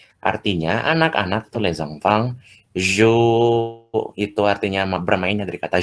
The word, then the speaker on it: jouent: Contohnya ini les enfants jouent, ya joue, ini bacanya joue bukan jouent.